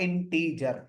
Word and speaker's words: int: तो प्रोनाउंसिएशन पूरा है इंटीजर, लेकिन जब कभी लिखा आप देखेंगे कहीं पर तो शुरू के 3 लेटर आप लिखा हुआ देखेंगे INT, तो इंट का प्रोनाउंसिएशन होगा इंटीजर।